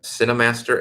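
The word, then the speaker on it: KineMaster: So if you want a video app that's both iOS and Android, it's one called Cinemaster, and it's spelled with a K, and that's both iOS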